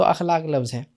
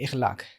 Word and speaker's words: अखलाक: लिखित मकारिम अल-अखलाक , इसलिए शब्द अखलाक है। लेकिन जब यह शब्द उर्दू में आया, तो कई लोगों ने इसका उच्चारण 'ज़ेर' के साथ करना शुरू कर दिया। इखलाक। अच्छा ऐसा है। ठीक है। जैसे कई लोग ' नमाज़' को 'नेमाज़' कहने लगे। काफी उचित। लेकिन इसे गलत माना जाता है। इसका सही और प्रामाणिक उच्चारण अखलाक है। इसे अखलाक कहा जाना चाहिए।